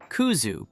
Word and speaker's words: Kuzu: Kuzu, pronounced kuzu, is a starchy root powder made from the kudzu vine.